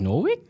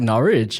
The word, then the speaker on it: Norwich: just heard is I I think I pronounced the school name wrong this whole time I was like Norwick I was like norch oh okay my Australian